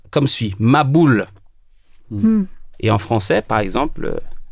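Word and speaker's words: מבול: Le mot déluge, en hébreu, traduit par, se prononce comme suit, maboul.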